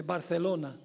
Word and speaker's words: Barcelona: O debo pronunciarlo correctamente, Barcelona.